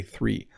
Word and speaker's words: three: It's kind of weird, but you're going to see my tongue three when I say three. 1, 2, 3. It's going to be right there.